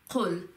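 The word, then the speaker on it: قُلْ: Then it's not just kul, it's qul.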